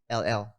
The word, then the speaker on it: Eddryll: So it's Eddryll." Like chlorophyll, but double D, double L.